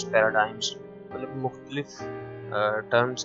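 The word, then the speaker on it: paradigms: ठीक है, यहाँ पे जो ना इम्पेरेटिव पैराडिग्म्स पैराडाइम्स मतलब मुख्तलिफ टर्म्स के लिहाज से हम प्रोनाउंस करते हैं, से प्रोनाउंसिएशन अलग से होती है। मैं इसको पैराडिग्म्स प्रोनाउन करूँगा। ये वर्ड है पैराडाइम्स, ठीक है, यूएसए पैराडाइम्स, इम्पेरेटिव पैराडाइम्स, ठीक है।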